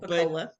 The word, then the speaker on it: Pocola: Is that how you pronounce it? Pocola? That is correct. All right, Pocola.